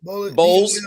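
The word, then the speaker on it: Bolles: Is Boyles, or I don't know how you say his name. Bowles.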